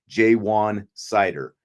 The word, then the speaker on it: Jaywan Sider: out by Notre Dame, Jaywan Sider is how it's said.